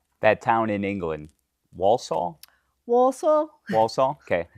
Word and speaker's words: Walsall: Walsall.